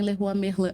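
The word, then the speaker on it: Leroy Merlin: uma marca francesa Uhum E a pronúncia correta também já foi meu cliente é a pronúncia correta el errou a merlan aham eh só que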